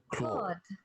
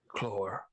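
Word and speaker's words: Claud: Clore. Claw. The D is silent. Clore.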